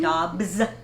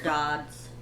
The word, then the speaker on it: Dobbs: Oh, and it's actually Dobbs. Dobbs. Yeah, it's with B's. I know, right? Mrs. Dobbs. We're dyslexic, so our B's and D's can be reversed. I spelled with two D's. My bad. This entire time. Why am I just knowing about this now? I was calling her Dodds the whole time.